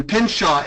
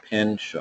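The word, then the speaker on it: Pynchon: I'm working with Susan Pinshaw in Florida, and I sent her stuff over for a records request.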